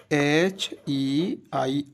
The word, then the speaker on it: heir: Second example is HEIR. This is noun. HEIR. It is not called here. It is called heir.